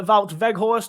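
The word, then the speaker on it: Wout Weghorst: have just confirmed the signing of dutch striker vault veghorst whose name i have now learned how to pronounce um after getting it wrong and incredibly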